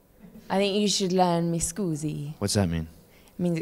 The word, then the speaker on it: mi scusi: I think you should learn mi scusi.